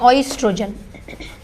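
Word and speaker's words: oestrogen: ठीक है, इसको कहीं कहीं ओ से भी बोलते हैं, ऑइस्ट्रोजन।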